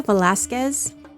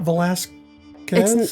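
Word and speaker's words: Velásquez: Uh it's not Velasquez. I looked I mean, it might be Velasquez, but I looked it up and it said Velasquez because I figured I was looking up everybody else's name.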